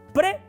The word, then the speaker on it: prae: vez de decir prae aunque se escribe prae se pronuncia pre es como cuando decimos